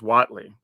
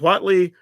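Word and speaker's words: Huatli: and I have been saying this correctly as Watley so if you're wondering that is how it's pronounced just saying okay so Watley poet of unity three Mana for a two3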